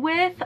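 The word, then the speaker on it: Ouai: wi uh hair treatment I believe that's how it's pronounced it's like o u a I so I didn't use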